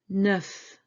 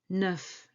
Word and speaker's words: neuf: Neuf. Neuf. Neuf. Remember these two letters? EU. They were in the word deux. Two. Deux. Neuf. The same syllable.